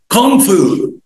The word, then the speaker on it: Kung Fu: Kung Fu. Kung Fu. ما تنطقش الجي بعد الان.